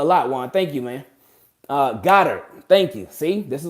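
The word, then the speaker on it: Goedert: Goddard.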